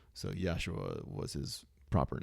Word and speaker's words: Yeshua: So Yeshua was his proper name. Yeshua Uh yeah, there's different ways of kind of pronouncing the end of it, but Yeshua Yeshua.